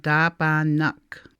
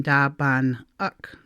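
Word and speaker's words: daabaanag: knock cars double knock notice that the end syllable of da bond n is at the end of the syllable bond and when we change it to plural form that n hops over to the last syllable up so we have da ba nook rather than da bond look it flows better da ba nook da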